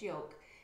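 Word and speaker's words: Joke: and i've just realized i've been pronouncing her name wrong but it's her name's yolk j-o-k-e and i noticed that she was stitching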